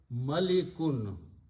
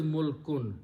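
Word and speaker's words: مُلْك: If I use a kasra here, malikun, okay, that has a different meaning. But what we need is, and this word is, these meanings are coming further. If I pronounce mulkun, mulkun, or, so the word is mulkun, this is a noun,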